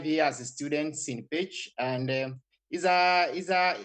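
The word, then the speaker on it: Pécs: You know in Hungary CS is pronounced as chi. So I'm in a city called pitch.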